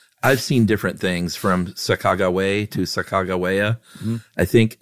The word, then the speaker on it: Sacagawea: Lewis and Clark fame, spelled it Sahkah, emphasis on that, Garwea, so Sacagawea or Sacagawea. But then the Shoshone, which is a Native American tribe that, we'll get to the importance there. They say actually it is Sacajawea, and it means boat